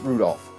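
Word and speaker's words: Rudolf: on it's just anyway this guy's name is pronounced Rudolph haha he must hate grandfather for giving me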